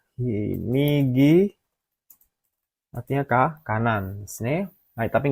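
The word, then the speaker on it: 右: Nomor 4 ini juga sudah tadi, yaitu ini bacanya migi, artinya kanan.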